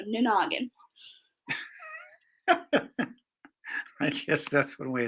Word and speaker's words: Nanagin: But the best way to remember how to say my book's title, NANAGIN, is like you're speaking like a Southerner and you say no noggin real fast. So NANAGIN.